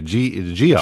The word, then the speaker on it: Geoff: My buddy Dover, Jeff, spelled like Jeff Moore in the Distance, by the way. Geoff. Geoff. All right. Geoff. He was Canadian. And an O.